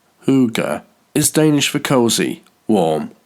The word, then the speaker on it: hygge: Hygge, pronounced hoo-ga, is Danish for cozy, warm, or homey.